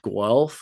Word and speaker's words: Guelph: Then we're in Windsor on August 8th, and August 15th, I think we're in Guelph, Ontario. Guelph? Yeah, Guelph. Spelled the way it sounds? How do you think it's spelled?